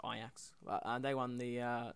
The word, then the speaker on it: Ajax: Champions League as well Ajax or Ajax I say Ajax because my accent I guess I don't know um I do think it's pronounced ax but they won the